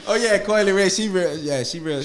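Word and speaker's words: Coi Leray: I thought y'all said Carly Ray. Coily Ray. That's how you pronounce her name, Coy? Coily Ray.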